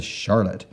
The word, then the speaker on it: Charlotte: but we went to Charlotte so a big Capital C and an H to give us that sh sound and then a r